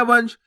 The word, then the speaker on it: वंश: तो वंश बन गया वंश। आपको वनश नहीं पढ़ना। अगर आप वनश पढ़ोगे तो पूरा ना का उच्चारण हो जाएगा, तो शब्द गलत हो जाएगा।